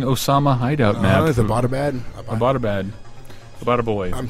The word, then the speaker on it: Abbottabad: Is it Abbottabad? Abbottabad. I'm saying that totally wrong, I'm sure. No, it's Abbottabad.